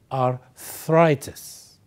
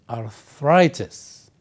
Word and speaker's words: arthritis: as you can see the word arthritis is divided into three parts R thus and the focus or the stress is On th so you say arthritis arthritis arthritis good so what is